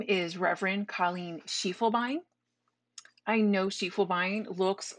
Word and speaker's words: Schiefelbein: But Schiefelbein is German, and so you pronounce the second vowel. So it may not follow English rules, but it does follow German rules. So it's Schiefelbein. You pronounce the E, the U, and the I, Schiefelbein.